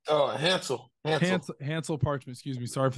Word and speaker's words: Hansle: posted a picture with another Runner if I'm pronouncing his name right here Hansley parchment is that correct oh a Hansel Hansel parchment excuse me sorry for the mystery pronunciation